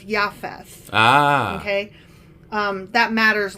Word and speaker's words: Japheth: okay okay so noah sons again were shem ham and jfess and actually i've been pronouncing japheth wrong because the j is a y so it's yafes ah okay um that